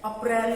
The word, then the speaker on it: April: कुछ लोग बोलते हैं अप्रैल, अप्रैल नहीं होता उसको, इसका प्रोनाउंसिएशन है अप्रैल। प्रोनाउंसिएशन क्या है? अप्रैल, अप्रैल। नॉट अप्रैल, ठीक है, अप्रैल नहीं, हिंदी वाला बाद में पढ़ेंगे, ठीक है। अभी इंग्लिश में प्रोनाउंसिएशन देखते हैं।